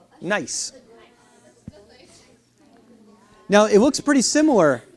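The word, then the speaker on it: gneiss: to use that so this is called nice now it's a German word and it's spelled g NE I SS nice now it looks pretty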